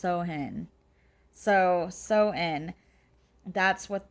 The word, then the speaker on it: Samhain: looks like to us americans that it's called samhain but it's actually pronounced sohin so so in that's what they did and